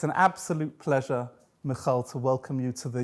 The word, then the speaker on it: Michal: I love that you pronounce my name so nicely. Thank you. Michal.